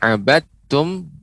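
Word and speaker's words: عبدتم: Kemudian abadtum, jangan sampai menjadi tebal abad. Nah, tapi abadtum.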